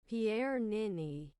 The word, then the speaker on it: Pierre Niney: But after doing some in-depth research, I not only learned how to pronounce his name, Pierre Nini, but I quickly realized that the man is a hair god.